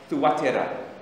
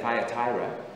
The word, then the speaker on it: Thyatira: churches were Pergamum and Thuatira, is how you pronounce it, Thuatira. We say Thyatira, it's actually Thuatira.